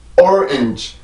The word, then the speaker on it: orange: orange, orange, G 이렇게 발음을 하지 말고 절대로 여기에서는 소리가 강해져서도 안 되고 소리에 이라는 소리가 붙어서도 안 돼요. 그러면 새롭게 리듬이 생겨나니까 요 순수한 발음인 G, G, G 이 정도로만 발음을 해주세요.